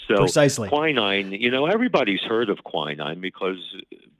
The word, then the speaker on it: quinine: Is it called quinine? Quinine. Quinine. Okay, so is this an antioxidant as well? It is. You had the wrong accent on the syllable, Mr. Wordsmith. So precisely. Quinine, everybody's heard of quinine